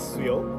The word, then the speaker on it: Suyo: Okay, so my name is Suyo. Suyo. I Suyo? go by Suyoru in Japan because that's what Japanese Suyoru. people pronounce my name.